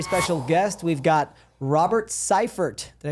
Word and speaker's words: Syfert: We've got Robert Ciphert. Did I pronounce that right?